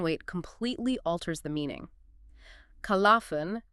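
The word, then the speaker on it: خَلَفٌ: Khalafun, with the lam pronounced, generally means a good, worthy successor, someone who carries the torch forward.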